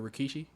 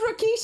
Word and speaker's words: Rikishi: People were comparing her to Rikishi. Oh, bro, I don't know about that stuff. Nigga, who's Rikishi? Oh my god. Well. This was episode 2. No, who's Rikishi?